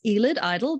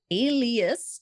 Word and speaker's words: Alias: So I said, if I ever need to explain my name to someone, it's like, how do you say this? Elid, idle? No. Alias. Just take the S off the end.